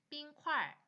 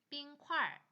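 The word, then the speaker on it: 冰: 단어가 있는지 보고 한번 읽어 보세요 자 이번에는 발음을 보겠습니다 당지 실업 당지 휘핑크림 나요나요 밀크폼 나파 나파 얼음 빙 빙 두유 또나 또나 저지방 우유 뉴나 이렇게 표현하시면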